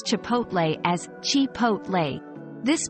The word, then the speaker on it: Chipotle: h t syllable where the O is pronounced like the O in hot and ending with a